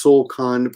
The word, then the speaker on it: 送還: You're kicking someone else out, and if you guys want to know how to pronounce that, it's Solkan, but I'm just going to show you this so you can see it on the screen.